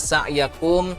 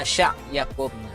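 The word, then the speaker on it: سعيكم: Kemudian di inna sa'yakum terbaca inna sya'yakum. Sin terbacanya ke huruf shin ya.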